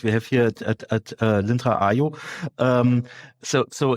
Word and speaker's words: aiio: And this is our ongoing journey here at aiio, also to change the process of selling a B2B tool online. Okay, that's an interesting approach. Yeah, great. You already mentioned the name of the tool. It's aiio, as I learned.